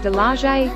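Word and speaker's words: Dalaguete: Heading south, you could ascend Dalagwets, pronounce it, Dalaje, Osmia Peak of Cebu in Mantalongan.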